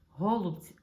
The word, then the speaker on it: голубці: вистрілило і це були голубці Ой ні не голубці голубці бо один підписник мені зробив зауваження що в українській мові наголос треба класти на останній склад Так це правильно але